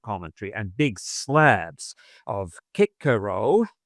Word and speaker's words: Cicero: So you could have a reader with appropriate commentary and big slabs of kickaro in the correct pronunciation or cicero if you're not quite correct. Kikaro and then you could have salast.